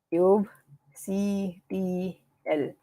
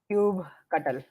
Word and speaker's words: kubectl: I say it kubectl. It's called, like, I call it cube. So let me write here. I call it cube ctl. Some people call it cube cuttle, and some people pronounce it uh, cube control. Feel free to call it whatever you like.